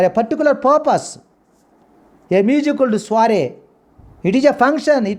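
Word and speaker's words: soirée: What the pronunciation of the French origin? Soiree.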